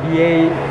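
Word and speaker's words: Biei: Oh, they pronounce it BA. BA. Without the I. The I silent.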